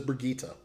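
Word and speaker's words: Brigitte: brigita brigita there was a there was a pronunciation guide in this oh no it wasn't another article but yes it is Brigitta but she's like a mash-up between a tank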